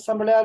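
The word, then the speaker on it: Sambrial: کہتے ہیں سمڑیال مطلب وہ سمڑیال کی نہر سمبڑیال میں ہے ہاں وہ سمبڑیال ہے بہت اپنے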